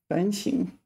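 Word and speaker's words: 反省: is normally pronounced sh such as Shand is pronounced sing fing so you need to pay attention to that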